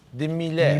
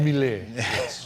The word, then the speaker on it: Miele: And you must say it like this: de Miele. Miele. De Miele.